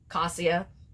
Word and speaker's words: Casia: how they say it could be kasha acacia cassia like how I say it it whatever it is